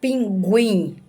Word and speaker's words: pinguim: Então, pinguim tem a pronúncia da letra U, não é dígrafo.